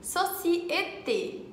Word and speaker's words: société: O primeiro se pronuncia E, como em université ou société. Tem o som E com a boca assim, como se fosse sorrindo, sabe? E, société.